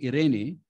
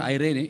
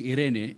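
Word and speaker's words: εἰρήνη: And the word peace in Greek is the word irene. Is written E-I-R-E-N-E, E-I-R-E-N-E. It's not Irene, it's Irene, pronounced Irene.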